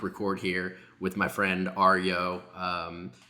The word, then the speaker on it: Aryo: Decided I had to click record here with my friend Aryo, spelled A-R-Y-O, pronounced like Mario, he says, but Aryo, which I think is pretty cool.